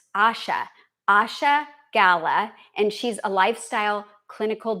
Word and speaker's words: Asha Gala: Okay, so I said her name wrong. It's Asha Gala, and she's a lifestyle clinical director at Ethos Farm.